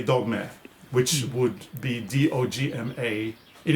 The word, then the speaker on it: dogme: is spelled d-o-g-m-e and because we're from norway the e is pronounced a so we say dogma which would be d-o-g-m-a